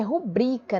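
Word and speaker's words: rubrica: para vocês e olha o certo é rubrika né paroxítona terminada em ar então se a sílaba tônica nubri então não tem para que assento ahh Tá certo suíço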